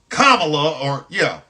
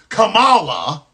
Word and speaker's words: Kamala: Their guy won against that Kamala or Kamala. They would mispronounce her name on purpose.